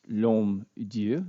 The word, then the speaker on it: L'HommeDieu: name is Dr lomu it's pronounced LOM of course it's French so it's kind of